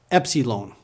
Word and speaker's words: Epsilon: ZTA Z ZTA V Epsilon it's pronounced like a short e as in get e English has many